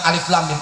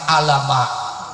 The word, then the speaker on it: Alif Lam Mim: Awal Al-Baqarah kita baca alif lam mim. Jangan karena Quran dibaca dengan bunyi huruf kita bacanya bukan alif lam mim, alama. Nah itu kan alama itu kan bunyi huruf. Alif lam mim tetap dengan nama huruf.